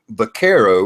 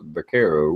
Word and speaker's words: Vaquero: Like I done a video on this Vaquero, which I know I pronounced wrong in the whole video is Vaquero, but I hadn't shot it yet.